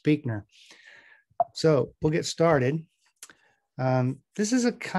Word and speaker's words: Buechner: don't know is that his last name's pronounced Buechner.